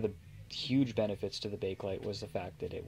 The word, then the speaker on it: Bakelite: to make um when bakelit was invented and actually i should mention here that it is actually pronounced bakelit um though due to its spelling a lot of people pronounce it bake light and i kind of